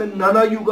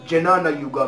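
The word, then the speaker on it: jnana yoga: الان من بحثم بحث نانا یوگا است که خیلی ها اشتباه هم جنانا یوگا میگن. تلفظ درستش نانا یوگا هستش، یا اگه جه هم باشه خیلی نانا یوگا در نه حل میشه.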